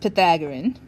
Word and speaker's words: Pythagorean: Okay, so this is pronounced Pythagorean.